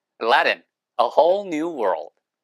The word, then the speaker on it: Aladdin: 참고로 알라딘이라고 하는 발음은 영어로 미국식으로 발음할 때는 Aladdin, 얼레든이에요. 예, 그러니까 알라딘이 아니에요. 예, 그러니까 잘못 듣고 알라들이 뭐고 Aladdin, Aladdin, A Whole New World.